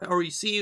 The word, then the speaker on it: REC: mini album which is called wreck or rec or i think it's pronounced rec actually you know like the camera rack which means that